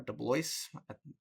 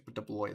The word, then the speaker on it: DeBlois: I think that's how you pronounce his name or Deloce. I think it's Deloy though.